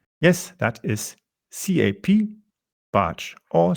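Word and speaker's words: Capbartsch: Twitter by using the Twitter handle cap barge it's spelled c a p b a r t s c h yes that is Cap batch or spelled Charlie alpha papa Bravo Alpha Romeo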